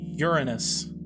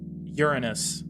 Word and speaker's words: Uranus: No, it's Uranus. Uranus.